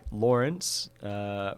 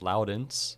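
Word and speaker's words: Laurens: His name is Lawrence, which the Dutch way then is pronounced Loudens.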